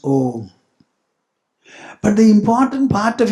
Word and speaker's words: Om: The first is A, the second is U, the third is A plus U will make O, and when the Anuswara is added to it, it becomes Om.